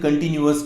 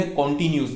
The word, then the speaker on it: continuous: आज के इस चैप्टर में हम सीख रहे हैं प्रेजेंट कंटिन्यूअस टेंस। मैंने जैसे आपको पहले भी बताया था, इसकी सही प्रोनाउंसिएशन कंटिन्यूअस होती है, कॉन्टिन्यूस नहीं।